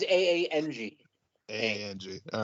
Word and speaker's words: Aang: how mad they get Ong yeah it's supposed to be Aang but in the in the movie version they pronounced it Ong and like fans went